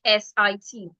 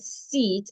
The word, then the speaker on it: sit: So we can have words like S I T. Instead of pronouncing it seat, I should pronounce it as sit.